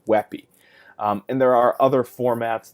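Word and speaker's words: WebP: wet be it's W EBP but it's actually pronounced webby and there are other formats there's OGG OGG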